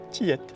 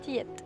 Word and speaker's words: Tillet: à la plage de Tillette. Alors, je viens d'apprendre qu'en créole, on ne dit pas, on dit toutes les lettres.